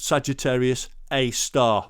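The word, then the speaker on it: Sagittarius A*: and it is pronounced sagittarius a star the little star of the asterisk is part of its pronunciation now the moon is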